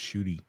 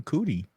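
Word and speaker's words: Ncuti: I think that the actor, his first name is actually pronounced Shooty. That's what he said. I said earlier. Yeah. Well, you didn't say it this time. You called him Cootie. No, I said Nchudi. Okay, well, you're still pronouncing the N. Again, not my fault. You don't pronounce the N or the hard R.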